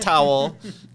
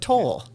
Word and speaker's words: Toll: Not towel, not tool, but Toll.